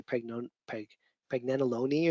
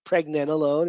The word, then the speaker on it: pregnenolone: Sometimes people say pregnenolone or something like that, like it's cannelloni or something. It's pregnenolone, it's how you pronounce it.